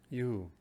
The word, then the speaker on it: Yehu: The first syllable, Ye, is the authentic one.